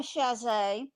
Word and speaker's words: Chasez: Uh Miss Ammon, and I I ain't pronounced your last name cuz I didn't want to mess it up. Well, I'm Alma Shaz and I am the current president of the League of Women Voters for Tangabo Parish.